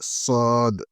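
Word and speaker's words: ص: La lettre Sod, Sod, Sod, il faut bien prononcer.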